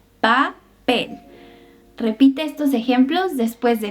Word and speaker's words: papel: La P en español no es tan explosiva como en inglés. No hay puff of air. Por ejemplo, papel. No es papel, es papel.